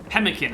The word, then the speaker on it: pemmican: Pemmican is what it is.